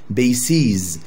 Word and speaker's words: bases: وجمعها غريب جدا، هنقلب الاي الى اي بس هنمدها شوية في النطق. bases يبقى basis. زي بالظبط Oasis. هي نفس الفكرة Oasis. يبقى في الغالب أي اسم آخره سس ننطقها سس مش سز، سس جمعها سيز.